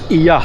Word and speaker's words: Oia: Well arrived Oia now Oia pronounce as EYA NOT OYA Here w have the